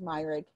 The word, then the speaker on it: Myrig: That's how it's pronounced, Myrig. I asked him.